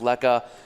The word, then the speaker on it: lekker: way everyone should know leka it's ellie kkker pronounced lekka it's african slang word for meaning great tasty and fantastic right yeah just everyone knows it's a dutch origin we get a lot of